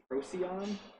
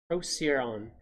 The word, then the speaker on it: Procyon: it is greek and the standard pronunciation is procyon procyon which is how i would do that like if i was just reading it but there's a phonetic spelling in there that doesn't seem to agree with that so maybe there's some dispute as to how to pronounce it yeah there is talking about the scientific name right there so that that uh particular site was suggesting that the c is a s sound yeah proceed on low